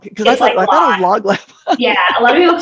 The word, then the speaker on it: Lōglab: It's L-O-G. Oh, just like log. Because I thought it was Lōglab.